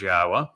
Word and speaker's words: Yahweh: And we were the first to reintroduce Yahweh's name properly pronounced, proven that it was Yahweh.